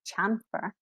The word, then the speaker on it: chamfer: It was a CH, we didn't say chamfer, we pronounced it with a sh, because they were most recently French in origin.